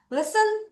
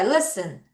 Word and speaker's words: listen: Listen to music. 음악을 듣자. 귀에 대한 얘기네요. 자, 따라해. Listen. T 소리 안 나요?